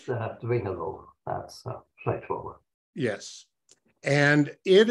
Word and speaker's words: Dwingeloo: It's Dwingeloo, that's straightforward.